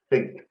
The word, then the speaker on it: think: c what's your pronunciation i always hear i sink sink sink sync means like the titanic i think you got to get your tongue think between your teeth i think all right